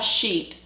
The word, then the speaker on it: Scheat: to talk about the fixed Star sheet and sheet is spelled s c h e a t and